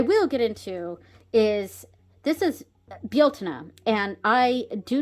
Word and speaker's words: Bealtaine: I've never pronounced it like that. Even before I knew that it was Bealtaine, I used to say Beltana because one of